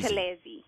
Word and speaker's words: Buthelezi: Okay, Buthelezi. Buthelezi. Yes, you said it perfectly.